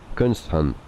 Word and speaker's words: Xi'an: Xi'an. That would be completely foolish. But okay, I tried it. And your subcompact also Xi is pronounced like she. Alright, so C is a she.